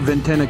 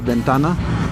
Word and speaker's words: Ventana: up in the Foothills um we call it Venna Canyon and that's just where how we pronounce it but uh it's actually Ventana and Ventana in Spanish means window so this